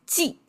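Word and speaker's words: 祭: But underneath is jì, pronounced as jì.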